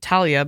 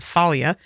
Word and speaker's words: Thalia: Also, I will say in the book, you know, the whole storyline of how I always pronounce it Talia, but in the show they pronounce it Thalia.